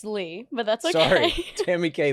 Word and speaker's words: Ly: I always say I never, so it's Lee, but it's spelled.